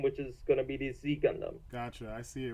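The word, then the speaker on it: Ξ Gundam: in it called the Z Gundam. Which is spelled IX because it's like Chinese characters.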